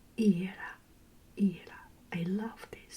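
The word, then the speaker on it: Ήρα: In Greek, it pronounced Hera.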